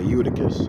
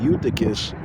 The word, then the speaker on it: Eutychus: Okay, Eutychus. All right. Raising Eutychus. Yeah, Eutychus, this was an Israelite. And that's in Acts, the 20th chapter, verses 9 through 12. It says a young man named Eutychus fell from a third-story window and died.